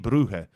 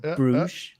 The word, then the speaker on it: Brugge: Winner faces off EC Brugge. Okay. Some better pronunciation there over. No longer Bruges.